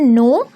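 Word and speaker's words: know: ठीक है, जानने को बोलते हैं नो, के साइलेंट हो जाएगा, सिर्फ एन पढ़ेंगे नो।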